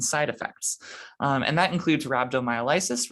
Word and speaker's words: rhabdomyolysis: for toxicity and side effects and that includes rhabdomyolysis rhabdomyolysis another alternate pronunciation and rhabdomyolysis is just muscle breakdown pain